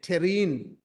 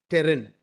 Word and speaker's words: terrine: stomach and pate and terrine and Sia so these are words which you know many of us would not know I think even I made a mistake in Terran it's terrine so this is how